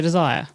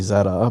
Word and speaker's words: Zadar: group oh okay so desire yeah eight day cruise and that was that's the way kate pronounces it's actually zadar but kate said copper